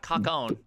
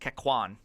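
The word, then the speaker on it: Kakoune: No, it's not cock-own. Oh. Though I might start Kakune. calling it cock-own. I think it's pronounced Kakwan.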